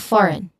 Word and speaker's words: foreign: The crucial point is that there is a silent G sound here which is the